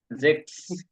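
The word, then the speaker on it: sechs: সুন হুম তারপরে সেক্স এস এর উচ্চারণ হলো জে এর মত জ এর উচ্চারণ জেক্স জেক্স হুম জিবেন কেন জিবেন জিবেন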